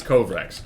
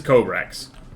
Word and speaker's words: Kobrax: I keep saying Kobrax. I think it's Kovrax. We'll find out immediately, actually. So, Pyrophyte. And that will be our confederation. And it is Kobrax.